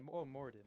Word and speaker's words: Moradin: Moradin. Yeah, Moradin.